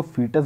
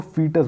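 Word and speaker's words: foetus: तो दोस्तों जो फीटस होता है, तो फीटस मतलब होता है भ्रूण, तो इसको फीटस बोलते हैं। स्पेलिंग जो है तो उससे आप कंफ्यूज मत होइएगा, इसको फीटस बोलते हैं, ठीक।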